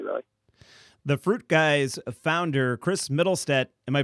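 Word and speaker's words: Mittelstaedt: The FruitGuys founder, Chris Middlestedt, am I pronouncing your last name correctly? Middlestedt, yeah.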